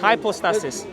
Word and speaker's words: hypostasis: That's the way it's pronounced. Hypostasis. I just want to be fair to the pronunciation, you know.